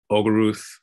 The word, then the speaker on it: Olgaruth: I think spell it for me. O-L-G-A-R-U-T-H.